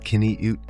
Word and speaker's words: qiviut: Pronounced kin-ee-ut, qiviut is the Inuit word for the soft underwool produced by musk oxen, prized for its insulating warmth.